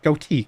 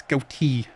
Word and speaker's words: goatee: go I don't know I say goatee goatee emphasize the te it's not goate it's goatee that's just my Pro